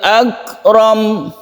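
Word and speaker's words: أكرم: Jadi akramnya ini pendek. Kalau kita membacanya tidak diteruskan, berhenti di sini, maka kita tetap membaca iqra ya. Iqra wa rabbukal akram. Pendek saja romnya ini.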